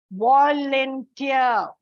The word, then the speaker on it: volunteer: Volunteer. Last syllable, volunteer. So before T.